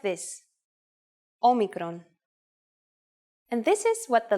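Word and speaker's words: όμικρον: this lesson this is a vowel called Omicron which makes the sound o again this will look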